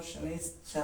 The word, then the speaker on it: ಶನೈಶ್ಚರ: ಶನಿ ಮಹಾತ್ಮನನ್ನು ನಾವು ಶನೈಶ್ಚರ ಅಂತಲೇ ಉಚ್ಚಾರಣೆ, ಸರಿಯಾದ ಉಚ್ಚಾರಣೆ ಚರ.